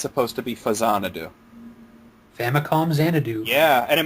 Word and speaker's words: Faxanadu: till way later that it's supposed to be Fazanadu. Famicom Xanadu. Yeah, and it makes perfect sense once it's explained. Yeah. But if somebody says Faxanadu, I'm not going to be like, you idiot!